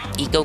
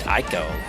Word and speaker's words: Ico: Jack and Daxter, and it's pronounced Eco there, so I called it Eco. But on some videos I was watching a few years back about it, they pronounced it Ico. Nice to know these guys were in the wrong.